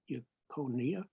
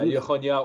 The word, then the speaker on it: Jeconiah: He had been exiled from Jerusalem, with the exiles that were carried into exile along with King Jeconiah. Yeah, Yechonia or Jeconia, however you want to pronounce it.